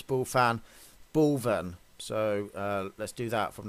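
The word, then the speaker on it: Bulphan: It is suspect because, well, Mick says he's here in this place called Bullfan. Actually, I've been corrected and somebody's told me that you pronounce Bullfan Bullven.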